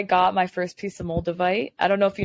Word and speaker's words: moldavite: Actually, that's where I got my first piece of moldavite.